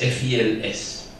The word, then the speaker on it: fils: Mon fils, F-I-L-S, on dit fils. Les fils, ça s'écrit de la même manière, mais on prononce fil.